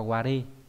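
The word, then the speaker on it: われ: Trong tiếng Nhật nó là đọc là ware.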